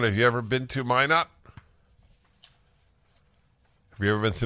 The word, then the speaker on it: Minot: It's pronounced Minot, and what did I say? Minute?